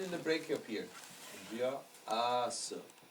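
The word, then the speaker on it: व्यास: So if a person has a long A in their name, we have to consider that as the following sound.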